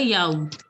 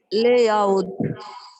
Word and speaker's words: yaourt: Le yaourt. This has to be pronounced. T has to be pronounced in this. So it is yaourt. Le yaourt. Arun Pandian, can you pronounce this? Layout.